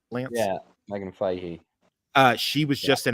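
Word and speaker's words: Megan Fahy: Um I had just I had just seen uh how do you pronounce her name? Megan Fehee. Did I say that right, Lance? Yeah, Megan Fehee.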